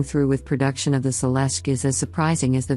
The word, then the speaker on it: Celestiq: The Celestiq, pronounced Celestiq, will be handcrafted at GM's Global Technical Center in Warren, Michigan, where it was designed and engineered.